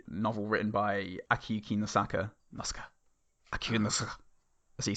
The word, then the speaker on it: Akiyuki Nosaka: Akiyuki Nosaka. As you say in Japanese. It's one syllable.